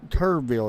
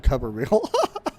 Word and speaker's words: Turbeville: Steven Turbeville is how you say his name. I kept calling him Tuberville.